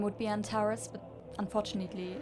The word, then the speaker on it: Antares: Antares, that's how you pronounce it.